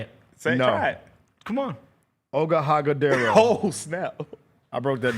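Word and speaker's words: Iguodala: Oga Hagadero. Oh, snap. I broke that down. Go ahead and say it. Iguodaro.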